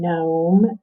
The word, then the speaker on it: gnome: g n digraph okay in the gn digraph the g is silent okay it says that sound but it is silent in words like gnarl and gnome and new and that